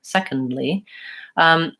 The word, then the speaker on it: secondly: pronounce the word secondly secondly the D is not actually silent in that word but I don't make a clear aspirated D I don't say second ly if there's no break